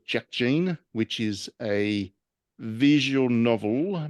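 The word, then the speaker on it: Jack Jeanne: is very much for me uh it's called Jack Gene which is a visual novel but it's about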